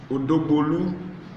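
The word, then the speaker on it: Odogbolu: Beautifully handsome, a native of Odobolu, like my boss, who is also from the same place, pronounces it, Odobolu in Ogun State.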